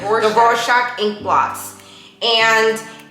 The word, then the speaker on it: Rorschach: this is actually very famous it's from rorschach raw shock i think i said it right the rorschach inkblots and it's they leave it up to